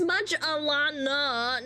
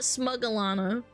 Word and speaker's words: SmugAlana: And you're not saying it right. It's SmugAlana, not SmugAlana.